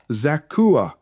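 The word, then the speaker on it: Zaccur: Rehob, Hashabiah, Zakua. Again, the C in this case is pronounced as a K. Normally pronounced C's as a K sound.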